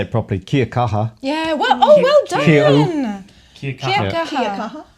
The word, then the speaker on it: Kia kaha: Kia kaha.